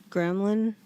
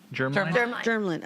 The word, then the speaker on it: germline: I've also learned that it is hereditary, and so it's, how do you say, gremlin? Germline? Germline, okay.